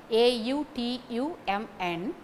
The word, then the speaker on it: autumn: language for example autumn the last n is not pronounced it is silent a u t u m n to be pronounced as